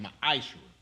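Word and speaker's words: מעשר: You can find this in Numbers 18:21, Malachi 3, 8-10, means tenth in the Hebrew, and is pronounced ma'ashra.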